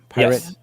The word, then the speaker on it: PyRIT: a library package that you all created called Pirate. Am I pronouncing that correctly? Pirate.